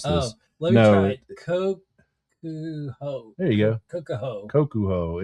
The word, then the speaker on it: Kokuho: And the nominees are, and I'm not even following my cues: Frankenstein, Kokomo. No, this is why I gave this one to you, to hear you mispronounce this. Let me try it. Kokuho.